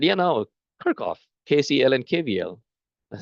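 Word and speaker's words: Kirchhoff: And they said, you know, Kirkoff, KCL, and KVL. I like what? So there's a German researcher. The actual pronunciation in German is Kerchov.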